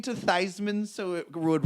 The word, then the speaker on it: Theismann: changed the pronunciation of Joe Theismann's last name was changed to rhyme with Heisman for senior at Notre Dame in 1970 the way the story goes his name was originally pronounced Esmond but that's not exactly